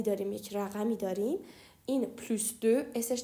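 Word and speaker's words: plus de: داریم بچه ها خب تو حالت عادی ما اینو چی تلفظ میکنیم اینو پلوس د تلفظ میکنیم پلوس د و بعدش اسم میاد مثلا میخوام بگم که افراد بیشتر پلس دپس یا میخوام بگم آلودگی بیشتر پس د پولس اما اگر بعد از این پلس د که اسش تلفظ میشه من عدد بیارم یا مقدار بیارم اس تلفظ نمیشه مثلا اینجا من عدد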